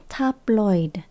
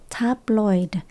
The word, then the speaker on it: tabloid: cải those taid newspapers chúng ta có từ tabloid là báo lá cải mình nhấn âm đầu tiên nha tabloid tabloid nó toàn viết linh